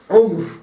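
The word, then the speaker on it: عمر: ömrün üzerinedir ayetlerde geçer kelimesi umr veya Amr diye okunur Ama başında lam olduğu zaman Amr diye okunur Unutma bunu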